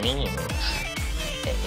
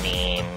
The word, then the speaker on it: meme: but last year, about memes. You know what memes are? Memes are the smallest units of a concept. And they're like genes. The word is deliberately constructed to rhyme with gene.